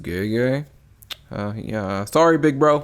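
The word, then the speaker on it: Gege: so pause right quick I pronounced this name GG for this whole video but it's actually pronounced gay uh yeah sorry big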